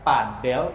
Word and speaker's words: padel: Jadi begitu ya buat teman-teman yang nggak tahu nih cara pronunciation-nya, cara pengucapan padel itu sebenarnya padel ya, bukan pedal ya.